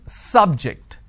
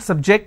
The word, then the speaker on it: subject: so i say bio biology is an interesting subject i'm i'm stressing on the first syllable okay now i am using another example please don't subject the students to any tests so here my stress has moved to the second syllable for example when i